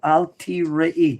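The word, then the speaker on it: אל תיראי: to rakhel al tirayi do you see how i pronounce that word why did i pronounce it emphatically that way there's a letter you'd after the tough the word is not from the word to see the word is from year ah which means obviously what is your ami what does it mean and therefore it's properly pronounced wow meaning you already had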